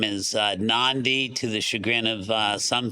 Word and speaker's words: NONDI: got to name as NONDI, to the chagrin of some people, but that's non-dependent, but it has a long E over the E, so it's very difficult